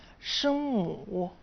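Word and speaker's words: 声母: الحروف الساكنة تنطق باللغة الصينية شنمو شنمو شنمو.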